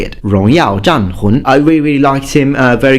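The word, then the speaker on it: 荣耀战魂: And just to give you a little bonus there, For Honor in Chinese is actually pronounced Rongyao Zhanhun. That's how you say it. Rongyao Zhanhun.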